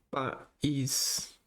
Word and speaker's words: país: País é uma oxítona. Oxítona. E o acento é oxítona. País. O acento aqui é para separar o. Separar. Marcar o hiato. O hiato. Que é duas vogais em sílabas separadas.